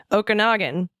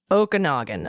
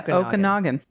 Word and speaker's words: Okanogan: And uh as to the other hilarious one, Okanagan. Um that is one of the most beautiful areas and is pronounced Okonogan. Okay. All sorts of Oogan. Oh yeah. Okanogan.